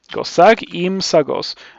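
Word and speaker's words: Gozag Ym Sagoz: Um, Gozak Imsagos.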